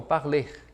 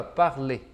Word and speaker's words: parler: Parler. Aqui, pessoal, mesmo que nós tenhamos esse R no fim, a gente não vai pronunciar, então o som vai ficar aqui, ó, parler, parler.